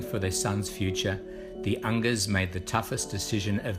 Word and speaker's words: Unger: Marc Unger's name kept coming up. I said, it rhymes with hunger, so we must get this kid.